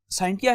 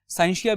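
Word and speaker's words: scientia: जो साइंटिया है इसकी डिफरेंट प्रोनाउंसिएशंस हैं, कुछ इसको साइंसिया भी पढ़ते हैं, ठीक है।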